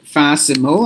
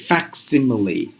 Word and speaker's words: facsimile: this one so facsimile you have to pronounce this word not fasimo I don't know there's